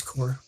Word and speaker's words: corps: It's core.